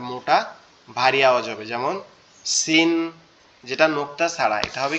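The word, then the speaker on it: سين: তাইলে কি দুইটা কিন্তু দুই রকম আওয়াজ হবে, একটা হবে কি মজবুত আওয়াজ, শক্ত আওয়াজ, আর একটা হবে কি চিকন আওয়াজ।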